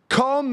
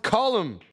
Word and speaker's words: Colm: by an artist called calm McGinnis music that can't be how he says his name it's because I'm not the only person that makes this mistake it's pronounced column now Kali Celtic Rock